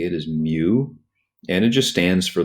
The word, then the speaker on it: mu: left and it's the Greek symbol mu it's pronounced mu E that's how you'd say it is mu and it just stands for the coefficient of